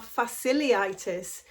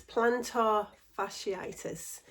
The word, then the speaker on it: fasciitis: I used to pronounce it plantar fasciliitis until I realized it was two eyes. I always thought it was an I and an L. Anyway, it's plantar fasciitis.